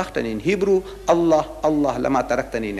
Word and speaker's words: Allah: you're trying make an effort it is not la it's a la not la is Allah say Allah so when I made this look